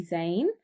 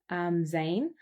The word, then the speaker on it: Zayn: So baby's name's actually Zane. So it's spelled Zayn. Zane.